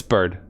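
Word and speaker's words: Byrde: Now then, this court finds the defendant, Maggie Bird. Oh wait, no, Maggie Bride. Wait, have I been saying it wrong the entire time? Is it Bride or Bird? Wait. Oh no, it's Bird.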